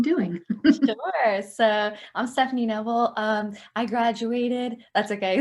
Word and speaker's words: Kneble: what you've been doing sure so i'm stephanie neville um i graduated that's okay the gay is silent but that's okay everyone gets it so